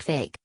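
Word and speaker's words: PHEIC: nearly 2 900 cases the fic pronounced like fake gives dead rose certain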